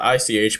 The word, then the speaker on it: ich: I'm not multilingual by any means, but I know for a fact that the German word for I is spelled ICH, pronounced ich, and then the French